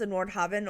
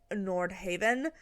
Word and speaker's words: Nordhaven: They said it could be pronounced Nordhaven or Nordhaven. So either way, you're right according to the Sims team.